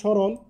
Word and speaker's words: স্মরণ: এখানে ম ফলা উচ্চারণের, শব্দের আদিতে ম ফলার কোনো উচ্চারণ হয় না। শব্দের আদিতে যদি ম ফলা থাকে, তাহলে এর উচ্চারণ হবে না। যেমন শব্দের শুরুতে এখানে স্মরণ, লক্ষ্য করো এখানে ম ফলা আছে, এই জন্য ম ফলা উচ্চারণ হয় না, এখানে তালবস্য হয়ে গিয়েছে।